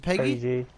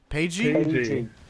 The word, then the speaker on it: Paigey: How do you say your name? Is it Peggy? Paigey. Okay. Can you read? Well, I can, but I don't know. It's Paige with a Y at the end.